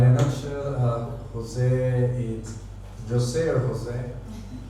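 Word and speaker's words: José: nutshell uh Jose is Jose Jose which is pronunciation in Spanish language I'm a Ecuador across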